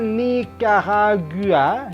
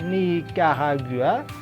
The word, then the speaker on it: Nicaragua: Kenapa dibacanya Nicaragua? Nicaragua. Analisis dulu. Di sini ada CA, berarti K. Ini I-nya kan kalau CI baru berbunyi C. Lagi pula penggalan memisahkan. I-nya ikut ke N. Jadi jelas nggak berlaku.